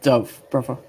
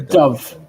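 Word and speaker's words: Dubh: pool um it's pronounced Dove brother oh do okay yeah Dove yeah pronounced the BH as a v just like with shobon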